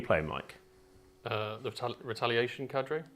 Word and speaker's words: cadre: Mike uh the retaliation Cadre Cadre right Jake Cadre kadre right it's not it's CER right a CER yeah it's